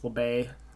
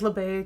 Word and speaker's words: LeBay: And, he goes inside with LeBay. That's how you say it? LeBay?